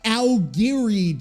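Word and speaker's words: Aogiri: __ ] word and why can't Survivor Ms pronounce it either it's it's the aliri tree a o g i r i I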